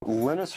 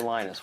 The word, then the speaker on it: Linus: And that's when Linus Torvalds came along. Linus or Linus? What's your preferred pronunciation? When I speak Swedish, it's Linus. When I speak Finnish, it's Linus. When I speak English, it's Linus.